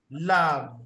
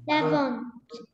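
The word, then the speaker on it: lavent: Elle lave. Lavons. Lave. We don't say lavons. Huh? Lave. Oh, okay, lave. Okay, so we don't pronounce the ENT.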